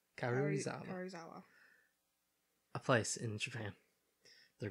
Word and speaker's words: Karuizawa: They're going to go to Karuzawa, I think is how you pronounce it. Karuzawa? Karuizawa.